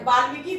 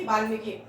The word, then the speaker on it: वाल्मीकि: विभीषण होगा ठीक है वाल्मीकि वाल्मीकि होगा य क में बड़ी की मात्रा छोटी यही अंतर है बस बोलने में उच्चारण वाल्मीकि बाल्मीकि आपको य अंतर समझना होगा कर्व नाशा ठीक है